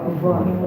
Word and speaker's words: Lisboa: Mira, aquí hay 3 S y las 3 se pronuncian distintas. Esta es una F, S y aspirada.